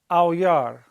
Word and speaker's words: aulla: It's aulla. Just like that dog. Aou! The old Wolfman, El Hombre Lobo, Lon Chaney Jr., right? The classic, gothic, universal horror film. One of my all-time favorites, The Wolfman. Aou! Sounds just like it in English.